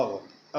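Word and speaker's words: hour: ओ यू आर और आवर आवर है ना यहां पे एच साइलेंट है और साउंड क्या है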